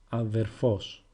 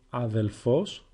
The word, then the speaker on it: αδερφός: You might also hear people pronounce it αδελφός with lambda. In fact, you might hear it quite often, so don't think it is wrong. It's just another way of pronouncing and it's also correct.